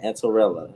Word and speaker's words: Antoinella: Listen, It's Antoinella. like Cinderella, just add the ant. Oh, Antorella.